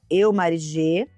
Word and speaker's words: eumarigê: Meu arroba é @eumarigê. Esse G do final é mudo.